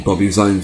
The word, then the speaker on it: Bobby Zines: The name Bobby Zines only comes because it happened to rhyme with Obby Lines from my first channel.